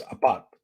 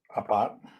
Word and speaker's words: Apat: 4 is Apat. Apat is 4. APAT. Oh, and that's it. Came up pot. Oops. Ooh. APAT.